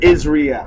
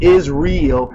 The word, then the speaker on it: Israel: tribe of Dan enter into Israel. My bro, please spell our name Israel correctly. It's not Israel, it's Israel. Israel.